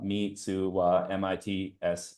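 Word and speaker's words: Mitsuwa: Mitsua, mi tsu wa, spelled phonetically.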